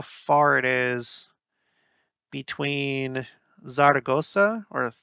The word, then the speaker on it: Zaragoza: So let's see how far it is between Zaragoza or Zaragoza. I'm sorry. That's how they say it. And they go like a TH sound for Z's and C's that make a S.